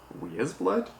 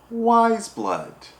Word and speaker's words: Weyes Blood: even pronounce what's written is it we as blood waste blood yes what eyes wise wise blood that's right this is a concert